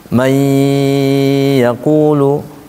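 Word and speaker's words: من يقول: Man yaqulu. Gimana bacanya? Mai harus masuk ke hidung. Pertama dia harus masuk, kemudian ditahan. Karena babnya bab ditahan. Mai yaqulu.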